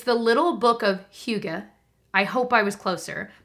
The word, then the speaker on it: Hygge: It's the Little Book of Hygge. I hope I was closer, but it's spelled H-Y-G-G-E.